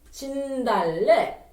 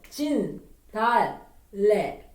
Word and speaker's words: 진달래: 진달래.